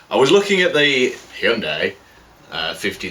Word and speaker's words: Hyundai: was looking at the I think it's it's pronounced Hyundai there are currently adverts on the TV which are telling me that and they're relating to the cars mostly but it's not hyai or Hyundai it's Hyundai um I got sidetracked there